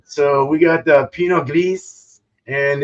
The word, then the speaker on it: Pinot Gris: Pinot Gris. Pinot Gris. Mm-hmm. Pinot Gris. Swallow the R.